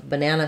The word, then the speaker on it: banana: ah the schwa sound it's the same sound we have in longer words like in um banana we have banana sounds like ba nah nah those unstressed syllables and